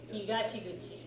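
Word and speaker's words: 東口: East exit, and it's pronounced Higashiguchi.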